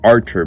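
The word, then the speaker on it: Artur: And their fellow Raven companion, Arthur, which is actually pronounced Archer by them.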